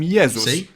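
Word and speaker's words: Jezus: religious figure Jesus in Polish we call him yeus but if we were to pronounce his name the English way we'd write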